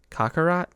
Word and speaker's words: Kakarot: Dragon Ball Z Kakarot. Is that how you pronounce it? Yes, it is. All right, Derek, Kakarot.